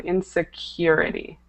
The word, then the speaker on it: insecurity: instead of insecurity um that U is pronounced with the long use on insecurity insecurity okay okay great so